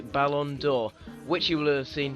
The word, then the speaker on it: Ballon d'Or: lad sorry about that terrible pronunciation there just had to go and look up how to pronounce it Lord bers rode to the Balon door which you will have